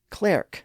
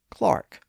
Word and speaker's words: clerk: And a word like clerk, pronounced clerk at the time, was sometimes pronounced as clark.